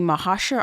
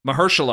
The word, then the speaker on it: Mahershala: It stars Julia Roberts, Ali Mahashar Ali. How do you say his first name? Mahershala Ali.